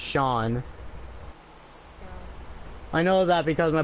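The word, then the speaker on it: Seán: Irish way, where it's like seen, but it's pronounced Sean.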